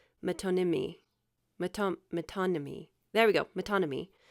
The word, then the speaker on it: metonymy: It's spelled metonymy.